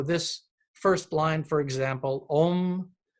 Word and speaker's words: Om: first line for example ohm that dot over the M makes it almost into an NG um it's a kind